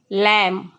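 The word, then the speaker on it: lamb: का मतलब होगा चिन्ह सॉरी यहां पे एल ए एम बी होगा लैम लैम का मतलब होता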